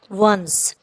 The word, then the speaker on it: once: ONCE इसको कैसे pronunciation करेंगे इसकी, वंस।